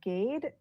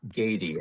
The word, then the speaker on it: Gade: you're ready um hi yes it's gaty gaty and um are you